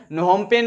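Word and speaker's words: Phnom Penh: की राजधानी है और यहां पर एन आगे में लगा हुआ है लेकिन यह एन साइलेंट है नोमेन अब इसको का सकते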